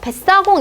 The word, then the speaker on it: 뱃사공: 발음이 어떻게 돼요? 뱃사공 이렇게 난다는 거죠.